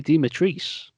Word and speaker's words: Dimitrescu: Well, there's one takeaway I took away from the Resident Evil showcase, and that was it's pronounced Lady Dimitrescu.